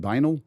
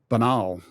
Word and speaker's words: banal: Is that the how you say it? Vanal. Benal. Banal.